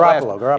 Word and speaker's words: Garoppolo: How do you pronounce that? Garoppolo.